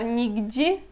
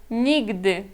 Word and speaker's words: nigdy: Só que muitas vezes as pessoas do Brasil pronunciam este gdy como gdi ou gdzie. Talvez mais como gdi, mas se alguém falar nigdi, eu já vou entender isto aqui, não isso aqui, tá?